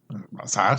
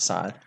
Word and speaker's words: Scythe: You say it as if it was spelled S-I-T-H-E.